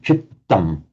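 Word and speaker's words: cittaṃ: Remember, in Pali and Sanskrit, when you see a doubled consonant, it's the same as Italian. Those of you who know Italian, it's important to pronounce it double. So chittam.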